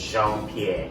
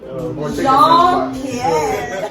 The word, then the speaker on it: Jean-Pierre: It's actually a French name. I'm from the French part of Cameroon. Cameroon is both French and English. So I grew up in the French part of Cameroon, but I'm English. So the full name is Jean-Pierre. So if you haven't taken the French class, you might not know how to pronounce my name.